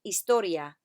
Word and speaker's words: historia: Remember to drop the H at the beginning. Say after me, historia. Muy bien.